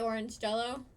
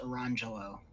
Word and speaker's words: Orangelo: That's the wrong pronunciation. No, I'm pretty sure I heard you say orange jello. No, it's Orangelo. Nah, orange jello. It happens to be spelled here. I'll put it in the chat. Mm-hmm. I know it's spelled Orangegello, but it's pronounced Orangelo.